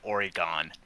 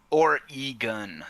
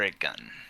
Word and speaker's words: Oregon: Or e gun or a gun as in like you know pew pew kind of gun.